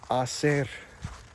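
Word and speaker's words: hacer: do in Spanish it's AER the H is silent h a c e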